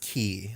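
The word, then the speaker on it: χ: it's uh that symbol that symbol is is is pronounced key like they explained it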